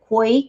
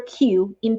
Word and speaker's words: 气: pronounce it correctly, like Hui, Ki, usually it's like that. The correct way of pronouncing the letter Q in Pinyin system should be Qi, Qi.